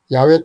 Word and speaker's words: 야훼: 이에 대한 정확한 발음은 유실되었다고 합니다. 그래서 중세 마소라 학자들이 아도나이의 모음 아, 오, 아를 사성 문자에 결합하여 여호와라는 이름으로 음역했습니다. 현대 구약학계에선 야훼 또는 야훼로 발음하는 것이 일반적입니다.